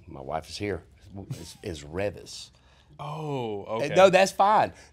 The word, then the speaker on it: Reavis: wife is here is Revis oh okay no that's fine nobody has been able to pronounce my name since beas and Butthead everybody through the 80s